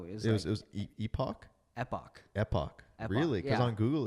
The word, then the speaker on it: Epoch: Yeah, Epoch.